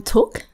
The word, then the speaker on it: Thuc: I'm Thuc. That's Thuc. It's a Vietnamese name, not T-O-O-K. But that's the easy way to remember it.